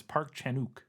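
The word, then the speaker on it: 박찬욱: Park Chan-wook, and you don't pronounce the W from everything I was able to find. Every time I heard somebody say it, it was Park Chan-wook, like one word, but who knows?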